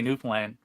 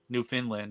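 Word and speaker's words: Newfoundland: it New Foundland uh we say new plan we just jumbled all together a lot of people from what we call the mainland would say new New Finland or New Found land it looks like Foundland but that's not how it's pronounced but Mississippi yeah New Foundland is good don't call it New Finland new people call it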